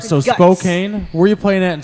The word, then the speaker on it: Spokane: I'm gonna yeah how's it pronounced put it up spoke cocaine you st. spokane cuz whatever it sounds better Spokane Spokane okay